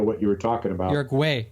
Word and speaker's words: Uruguay: Look it up on Wikipedia. Look at the pronunciation. See what it says. I speak Spanish, motherfucker. It's Uruguay. Uruguay.